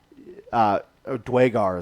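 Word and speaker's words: duergar: And the sculptor that completed it was a Durgar, which is not like Dwagar is how you pronounce it, right?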